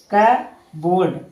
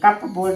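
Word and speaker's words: cupboard: जैसे देखिए सी यू पी बी ओ यू आर डी इसे क्या पढ़ेंगे? क बोल्ड। कब बोल्ड पढ़ेंगे। कप बोल्ड नहीं।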